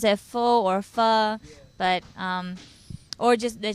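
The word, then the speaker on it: phở: most popular pho, or some people pronounce it as pho. Correct way would be, just adding a question mark on it, pho.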